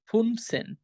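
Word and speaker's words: fünfzehn: 15 কে বলবো আমরা ফুন প্লাস সেন ফুনসেন 16 কে বলবো আমরা জেক্স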